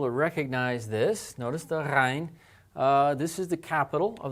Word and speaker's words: ghayn: Now, as I said, the ghayn sound has sort of a combination of a G and an R sound together.